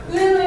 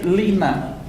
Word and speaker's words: Lena: Lena, you're so beautiful.